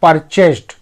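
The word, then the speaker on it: purchased: शब्द इस्तेमाल करते हैं परचेज यहां पर डी को टी पढ़ रहे हैं क्योंकि एक नियम कहता है कि शब्द के अंतिम अक्षर का अगर उच्चारण ध्वनि फ स च प क इन पांचों में से कोई एक अक्षर से होता है तो उसके बाद लगे डी को टी पढ़ते हैं तो खरीदा एक किसान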